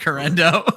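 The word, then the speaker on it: Guerendo: I'm just pronouncing it the Spanish way. So, correct. So they can't stop me is what it really comes down to. Horrendo.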